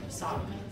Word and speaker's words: Socaher: My kids play soccer, obviously, so I'm soccer mom, but it's not spelled soccer like soccer ball. It's spelled SOCAHER, soccer.